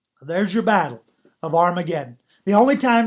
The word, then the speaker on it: Armageddon: one way it's actually pronounced with the h sound so it becomes har mageddon okay but if it's the other way then it's the alpha it's the a it's armageddon okay so we come into